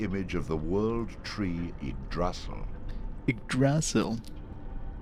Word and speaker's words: Yggdrasil: But Tony J says it's Yggdrasil. So, I shall call it Yggdrasil from now on.